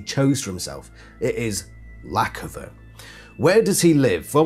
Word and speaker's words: Lackofa: that I'm like okay it's definitely lacova rather than loua or something like that so definitely without a